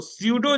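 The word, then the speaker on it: pseudo: जैसे इ यू लगा है ना यू यू लगाए थे ट्रू के लिए तो सडो जहां लग जाएगा पी साइलेंट रहता है पी एस ई यू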